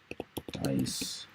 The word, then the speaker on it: dais: How do you pronounce that word? Dais. Pronunciation. Dais. Looks like dais. Okay, dais. Okay.